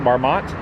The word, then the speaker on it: Marmont: Is that how you pronounce it, Marmont? Yes. It used to be in